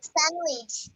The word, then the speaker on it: sandwich: সবাই ভালোভাবে খেয়াল করো, স্যান্ডউইচের উচ্চারণের ডি এর উচ্চারণ হবে না, স্যান্ডউইচ। স্যান্ডউইচ আমরা বলি স্যান্ডউইচ, নো স্যান্ডউইচ। আচ্ছা, Sandwich.